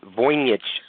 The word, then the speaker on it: Voynich: But the actual pronunciation is Voynich manuscript.